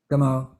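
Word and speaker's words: Gameau: When you the person that wrote the afterword, Damon, how do you pronounce Damon's last name? Gamo.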